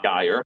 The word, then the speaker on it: Geier: So my first question to you, Megan, is your name is Megan Guyire, correct? I pronounced that right.